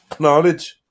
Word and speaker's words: knowledge: So, however, beginning in the 15th century, during the period of Middle English, speakers gradually stopped pronouncing the K.